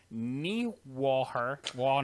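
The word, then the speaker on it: Niewöhner: some German, but I didn't know how to pronunciate. So Kevin, all right, Kevin. So how would you say it? Niewoher.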